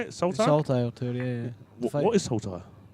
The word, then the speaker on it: Saltire: Saltire tour, yeah.